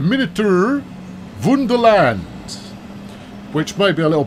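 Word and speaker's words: Miniatur Wonderland: course to the uh the minotaur wonderland sorry beg your partner i'll do the pronunciation correct the miniature wonderland which may be a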